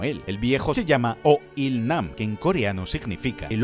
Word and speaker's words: Oh Il-nam: que es el jefe o IL namam tiene una pronunciación parecida al inglés de old IL Man que significa hombre